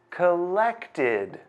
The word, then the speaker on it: collected: Do you know what sound collect ends with? Collect ends with the t sound. So, the correct answer is id. Collected.